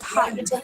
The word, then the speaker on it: height: weights like weight but not like height which should always rhyme with might be just the same